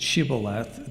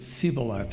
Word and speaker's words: shibboleth: They couldn't pronounce it shibboleth, they pronounced it siboleth instead, suggesting that there